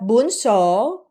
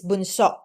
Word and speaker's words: bunso: Okay, not bunso, it's bunso. There's always kind of like that hard pause or stop or stress on the second syllable, bunso.